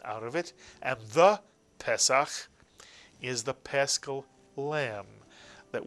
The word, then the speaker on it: Pesach: And words that tend to have a segol at the beginning tend to be accented on the first syllable. Pesach.